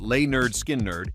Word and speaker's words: Lynyrd Skynyrd: Released in 1974, the studio version on the album Pronounced Leh-nerd Skin-nerd stretches past 9 minutes and features one of the most extended guitar solos ever pressed to vinyl.